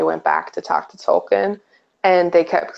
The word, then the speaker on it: Tolkien: like oh my god Tolkien actually went by so keen eye I am oh really my life is over my life is over yeah the proper way to pronounce Tolkien is tolki I refuse to you